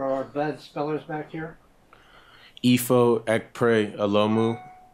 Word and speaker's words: Ekpre-Olomu: yeah okay can you pronoun your name and spell it for our bed spellers back here EO pray ALU ifo hold on my fault let me turn